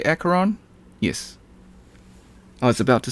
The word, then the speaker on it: Acheron: my in a monologue everyone calls her acaron but something just tells me that she's an asheron considering that she turns